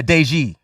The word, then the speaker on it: Deji: Yeah, Deji. Yeah. Not Daisy.